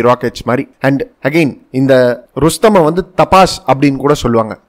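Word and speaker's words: Rustom: Okay, and again ரஸ்தம் அப்படின்னு சொல்லிட்டு ஒன்று இருக்கு, ஒரு ருஸ்தம் அப்படின்னு கூட ப்ரொனவுன்ஸ் பண்ணுவாங்க இதை.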